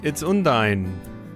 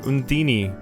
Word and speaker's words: Undine: It's Undine, or Undini, if you go by the Tales of Symphonia pronunciation. She's ethereally beautiful, but there's something hard to pin down in her gaze.